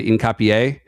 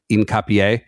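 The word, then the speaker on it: Hincapié: I mean with with my slightly better Spanish pronunciation dialect, I would say incapier. Yeah, I think that's H would be silent and there's an accent on the end. So incapier.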